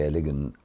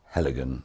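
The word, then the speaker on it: Heligan: mood whether we see a ligand or with the emphasis on the second um part or heligen which is more british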